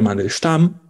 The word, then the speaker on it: Mandelstam: Bueno, probablemente les suena el nombre de Osip Mandelstam, o Mandelstam, en ruso se pronuncia Mandelstam.